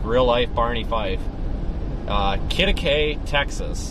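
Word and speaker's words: Quitaque: Kittakay, Texas. It's spelled Q or whatever, Q-U-I-T-A-Q-U-E or something. It's like some Spanish word I can't. It looks like Q to Q or something on the map.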